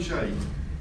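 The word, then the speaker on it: Hsieh: h s i e h how did you pronounce that nation thank you tony shea brought in various things but amongst others he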